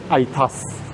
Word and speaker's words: Aetas: By the way, this project right uh is pronounced as itas and a e is essentially a Latin word. Okay, of course it might sound like atas which it actually is.